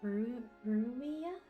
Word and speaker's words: Ruia: Also, I'm pretty sure it's pronounced Ruia? At least that's how I've always heard it.